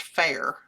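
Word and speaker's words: Fayre: But it's it's pronounced the way they told me it's pronounced fair like a fair in town.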